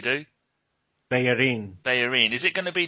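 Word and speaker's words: Bellerín: Oh, how do you say it, John? Because I try to say it the way you do. Bellerin.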